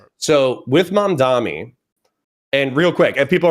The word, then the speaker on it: Mamdani: So I would pronounce that as mom, like my mom, and then Donnie, like a girl named Danny, but I'm changing the D to you an said mom Dami.